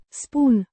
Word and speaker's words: spun: Spoon, the first person singular present indicative form of the verb a spoon. To say or tell, pronounced spoon. The oo is pronounced like the oo in moon.